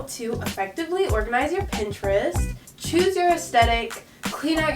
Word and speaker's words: Pinterest: this all the time pinterest three syllables say it with me pin to rest it's just such a